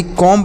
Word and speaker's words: comb: इसे लिखा जाएगा यानी कॉम्ब लिखेंगे, लेकिन इसे कॉम पढ़ेंगे, COMB कॉम ऐसे पढ़ेंगे।